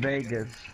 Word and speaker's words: Vegas: I'm just saying that you pronounce it wrong. You said Vega.